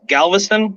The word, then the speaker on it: Galveston: go to a place called i think it's galveston is that how you say it yeah that's